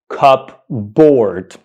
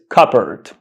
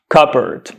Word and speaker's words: cupboard: this word and pronounce it incorrectly do not pronounce this word cupboard this word is not pronounced cupboard that's wrong cupboard is the wrong pronunciation of this word the correct pronunciation is cupert cupert cupert cupert cupboard yeah you heard me right